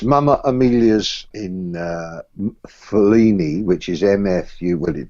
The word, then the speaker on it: Mfuleni: It's Mama Amelia's in Fellini, which is MFU. Well, it doesn't matter. MFULENI, Fellini with a silent M.